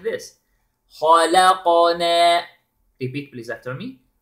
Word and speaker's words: خَلَقْنَا: Notice, the ha is heavy, the lam is light, the qaf is heavy with qalqala, and na, light. So, We pronounce it like this. خَلَقَنَا Repeat please after me. خَلَقَنَا Okay, then.